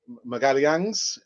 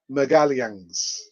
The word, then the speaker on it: Magalhães: signing Jonathan David, Gabriel Magalhães. That is the correct pronunciation. I've got a Brazilian friend of mine. She told me this is the pronunciation, Gabriel Magalhães.